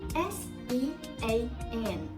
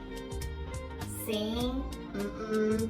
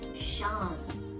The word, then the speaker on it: Sean: S-E-A-N. How do you read this word? Sing? That's not right. That should be Sean. Sean. Okay? So the pronunciation is as same as S-H-A-W-N.